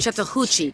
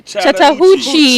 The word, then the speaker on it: Chattahoochee: Chattahoochee. Chattahoochee.